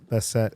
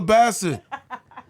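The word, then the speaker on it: Bassett: love for just just for the record Angela betet is uh 65 years old that's what I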